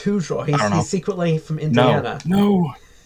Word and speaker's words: Hozier: It's Hozier, apparently, or Hoser. And not like Hoser or something. It's yeah. It's Hozier.